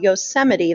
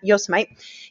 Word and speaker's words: Yosemite: um a national park called yosemite that's how you say it not yosemite yosemite national park and